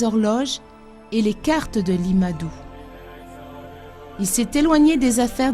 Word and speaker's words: Limadou: Le son R étant inconnu, le nom de famille devient Li, car on ne conserve qu'une seule syllabe. Certaines sonorités étant absentes, Matteo devient Madou. Et l'usage chinois voulant que le nom précède le prénom, Matteo Ricci devient Limadou. Et c'est sous ce nom